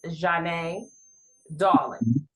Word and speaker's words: Zhane Dawlingz: So the correct pronunciation is Zhane Dawlingz.